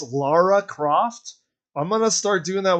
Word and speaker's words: Lara Croft: So, you know how when Laura Croft came out in DVD? A lot of people call her Laura Croft. People like, don't you know it's Lara Croft?